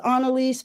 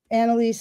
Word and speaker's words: Anelise: Um, well, my mom says Anaise, but people just say Anelise, Anaise, you know, as the as the spirit moves them, and that's totally fine with me.